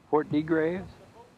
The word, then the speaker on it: Port de Grave: This is the harbor at Port of Graves. A little fishing harbor. It's the most popular picture. I think I pronounced it right. Port de Graves?